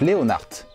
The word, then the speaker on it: Leonhardt: Aujourd'hui, nous allons parler de la marque Leonhardt, que je prononce avec un T pour pas confondre avec un célèbre chanteur que seuls les plus de 30 ans doivent connaître.